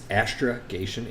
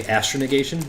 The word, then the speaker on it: astrogation: I think it's like I never say it right but it's astrogation it's like navigation astrogation okay oh but I say I say astron occations because I think astronavigation and there's no end in there I'm just stupid